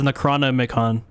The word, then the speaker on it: Necronomicon: That's probably why I can't pronounce it cuz when I when I read it, it says Necronomicon. It should be Necroon, right?